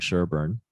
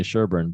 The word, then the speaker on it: Sherbourne: We say Sherbourne, but it's spelled Sherbourne. Nobody really says Sherbourne.